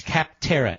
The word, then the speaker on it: Capterra: That's Capterra. It's spelled like it sounds.